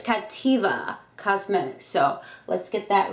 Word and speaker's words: Cattiva: review on Captiva Cosmetics okay I pronounced their name wrong at the makeup show I was calling captivia but it's Captiva Cosmetics so let's get that right um I